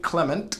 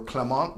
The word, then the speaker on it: Clement: is a mockumentary uh jamain Clement or clemont depending on how you want to pronounce that from Flight of